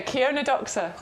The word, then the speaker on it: Chionodoxa: Yeah, I grew these years ago, and I remember looking at the packet thinking, how do you pronounce that? Yeah, Chionodoxa.